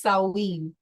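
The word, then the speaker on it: Samhain: sin is a Gaelic word that means sumran pronounced as saen one of the four Gaelic Harvest festivals marking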